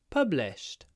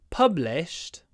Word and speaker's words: published: possible the next one published my book was published last year published remember the Ed is pronounced T after the unvoiced so it's published L